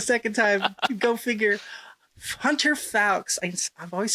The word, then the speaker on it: Fowkes: So today, I am delighted to be with my guest, Hunter Fowkes. Did I say it right? Fowkes. See, I got it wrong the second time. Go figure. Hunter Fowkes.